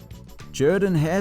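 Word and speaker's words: Jordan-Hare: stadium comes together nicely Jordan hair Stadium I pronounced it the proper way this time even though it doesn't sound right coming out of my mouth I don't know look at that name and I think Jordan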